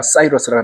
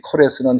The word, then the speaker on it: 고레스: 그래서 그 코레스 영어 미국 성경에 다 사이로스라고 나오죠.이 이 코레스는 히브리의 발음인데 우리 한국 성경는 고레스라고 돼 있습니다.이 고레스를 뒤에서 이제 페르시아의 왕이 며칠 지나가면서 누가 있었냐면 아하수에라는 왕이 있었어요.